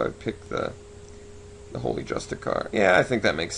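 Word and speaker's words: Justiciar: I always want to call this Just a Car, but it's spelled like Char. Just a Char.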